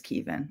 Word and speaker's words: Kevin: they wrote it as Kevin but we've always pronounced it as Kevin all the way back as far as I